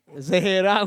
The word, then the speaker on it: Zaira: I'm going to pass you on to Zaira. Zaira, is that Zaira? Which one is it? Yeah, I'm Zaira. Ian got the correct pronunciation.